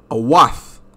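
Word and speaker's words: אות: This is awath. Awath. This is the true pronunciation in the Hebrew.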